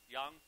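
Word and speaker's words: 羊: Yang. That's how they say it in Chinese and Korean.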